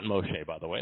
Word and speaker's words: Moshe: The Lord spoke to Moses. Not Moshe, by the way. They ought to know how to pronounce the man's name. Moses is a Greek name.